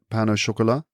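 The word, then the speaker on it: pain au chocolat: a bakery oh Pano Pano Chola okay so you have a little bit of an accent on the end but you don't go full French I don't know if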